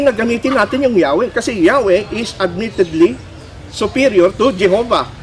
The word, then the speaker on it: Yahweh: 20 sabi rito ah yahwe is admittedly superior to Jehova Yun daw K ang pag-uusapan ay bigkas ng pangalan ng Diyos mas superior daw yong yahwe kaya sa Jehovah the wrong spelling Jehovah occurs since about 1100 a and then It offers its argument in favor of Yahweh as the correct and original pronunciation so mismo doon sa